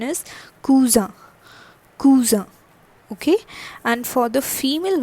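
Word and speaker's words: cousine: That is same in English, but the pronunciation is cousin. Cousin.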